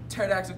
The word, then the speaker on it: pterodactyl: why can't you hear pterodactyl going to the bathroom why because the pee is silent I am a wall